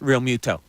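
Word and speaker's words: Realmuto: the whole game through JT real Muto needs to have his name pronounced real Muto and for the I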